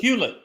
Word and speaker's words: Hewlett: How do you pronounce Elizabeth's real last name? Hewlett? Hewlett.